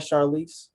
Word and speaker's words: Charlese: are you i'm blessed charlize am i pronouncing that right charlize yeah you're pronouncing my name right um yeah thanks for